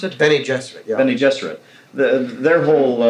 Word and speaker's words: Bene Gesserit: Bene Gesserit, you pronounce it? Bene Gesserit, yeah.